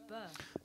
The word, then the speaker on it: Bø: I went to a place called Bø. Bø? Yeah. Which is brilliant. Amazing trains. Trains. Yeah. Okay. Bø trains. And it's spelt B-O with a line through it. Bø.